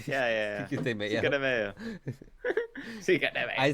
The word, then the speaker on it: Cinco de Mayo: Cinco de Mayo. I say Mayo because that's literally Freaking what it is. Like it's spelled.